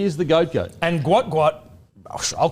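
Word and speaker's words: Gout Gout: like okay you can you can call him Gat gout but it's actually pronounced differently no no no so this is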